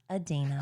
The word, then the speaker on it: Idina: It's Idina.